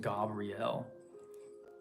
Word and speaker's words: Gabriel: waterfalls associated with the Gabriel energy um more more correctly pronounced Gabrielle and then Donald Michael Craig says to emphasize that last syllable so Gabriel and yeah